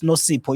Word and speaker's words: Nozipho: You join the next session with Nozipho, and I think it's Nosipo, if I say it correctly. Nosipo. Yes, that's correct.